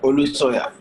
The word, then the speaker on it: Olusanya: Olusanya. Is that the correct pronunciation?